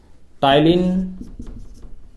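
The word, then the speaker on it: ptyalin: टाइलिन P silent होता है, और लाइसोजाइम।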